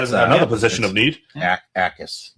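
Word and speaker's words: Jacas: Akis. The J is silent. Where? The second guy. Jackus.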